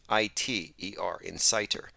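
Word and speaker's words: Inciter: plane Society Insider and that is spelled i-n-c-i-t-e-r Insider not that we're arsonists but the idea is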